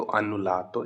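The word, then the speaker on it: annullato: और अगर पास्ट में कि कैंसिल कर दिया तो अनुलातो, इस तरीके से आप प्रोनाउंस कर सकते हो।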